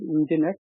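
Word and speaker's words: Nginx: right some description here engine X pronounced that engine right so basically they have dropped the letter e and they start with instead of e is starting as n right so the Eng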